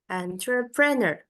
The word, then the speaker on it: entrepreneur: Entrepreneur. Entrepreneur. Entrepreneur. Gitu. Kita perhatikan tulisannya ya. Entrepreneur. Dia ada dua suku kata. Entre dan preneur.